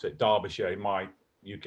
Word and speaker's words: Derbyshire: can two dog it's Derbyshire that's how you pronounce it Derbyshire my UK accent to Derbyshire which is I